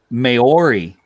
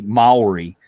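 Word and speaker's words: Māori: Just because of the way scale creeps, and I've got them, and they are Maori, or to pronounce it correctly, Maori miniatures, and I'm going to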